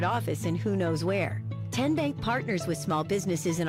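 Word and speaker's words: Tennessee Bank: TN Bank? Nope. Tin Bank? So what is it? 10 Bank. 10, as in Tennessee.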